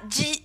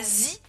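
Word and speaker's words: ぢ: attention à ça, hein, un chi plus des petits tenten, ça fait pas zi, mais ça fait ji, avec un D prononcé, ji, za, ji, zu, ze, zo, za, ji, zu, ze, zo.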